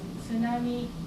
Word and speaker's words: tsunami: So it is tsunami, tsunami, tsunami, Tsunami, tsunami, tsunami, Tsunami.